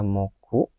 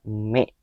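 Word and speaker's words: 目: Jadi kanji ini itu secara onyominya itu dibaca moku. Gomen, mohon maaf, saya lupa ngapus. Ini dibaca moku minasang, onyominya, sedangkan kunyominya itu dibaca me.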